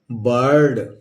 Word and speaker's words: bird: अगला जो हमारा नियम कह रहा है कि यदि आई के बाद आर आ जाए तो उस आई को हम अप्रोनाउंस करेंगे। जैसे मान लीजिए लिखा है BIRD, तो बी से क्या किया? ब लिख दिया, और ये इसके लिए अकारा प्रोनाउंस करने तो अप्रोनाउंस कर लेंगे और ऊपर आधा र लगा देंगे और ये ड लगा देंगे, क्या हो गया? बर्ड।